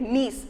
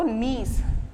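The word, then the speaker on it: gneiss: third type of rock is we have to spell it nice g1 is silent so you have to say say it as n-e-i-s-s so nice g-n-e-i-s-s okay so now how this knees is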